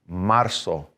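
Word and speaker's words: marzo: to you see that when we have a z in spanish a lot of times it's really going to sound a little bit more like an s in pronunciation so marso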